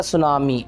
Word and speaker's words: tsunami: Okay, तो ये पढ़ा जाएगा सुनामी, SUNAMI, ओ सॉरी TSUNAMI, सुनामी।